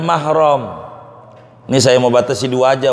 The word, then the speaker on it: mahrom: salah kita ngomongnya Hai orang kita suka nyebutnya muhrim Ini yang tukang-tukang ngomong nih Jangan sampai salah